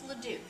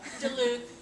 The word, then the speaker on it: LeDuc: If you have a name that's difficult to pronounce, help them out and say, it's LeDuc, not LeDuc, not, DeLuc, all of those.